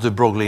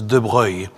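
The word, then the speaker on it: de Broglie: He was a prince and he was French and actually his name is not pronounced de brogley in French pronounced as droy but if you talk about droy in an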